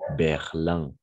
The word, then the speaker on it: Berlin: bien l'adresse excellente prononciation on dit Berlin d'accord Berlin oui en effet on écrit berline mais en général les